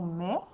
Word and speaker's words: mais: Donc, le mot mais, il y a le son M qui est normal et le E s'écrit avec AI et on a aussi le S qu'on n'entend pas et que tu dois te rappeler que ça prend.